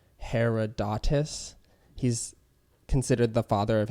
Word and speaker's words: Herodotus: about Atlantis Herod her I always get this guy's name wrong its Herodotus he's considered the father